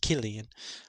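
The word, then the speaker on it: Cillian: is it's spelled like it's spelled with a c but it's pronounced Killian um I like him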